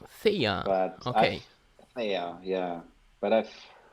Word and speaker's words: Theia: I say Eclipse Theia. Theia.